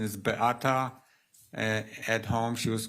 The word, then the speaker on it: Beata: Polish pronunciation is Beata.